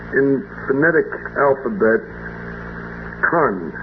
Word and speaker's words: Con: Now C pronounced in phonetic alphabet Khan.